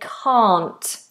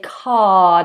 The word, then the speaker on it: can't: I do know why we don't say can't we say car nice open vowel the tongue is flat big space a a two fingers